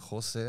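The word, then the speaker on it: José: home it's like it's not a thing like jose everyone just knows that's the way it's pronounced because a j in spanish is actually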